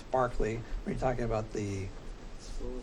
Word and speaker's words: Berkeley: spelled Berkshire so anyways when you talk about the philosopher it's Barkley when you're talking about